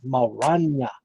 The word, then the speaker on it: Maranya: Every time I gotta take a little pause and say, okay, how do you pronounce that? Maranya. Gotta roll the tongue.